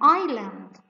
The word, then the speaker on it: island: sign look at this beautiful place it's an island island here we have is silent constant look at this it's a knife